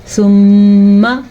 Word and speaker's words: ثم: کیسے ہوتا ہے غنہ؟ ثم، اس طریقے سے.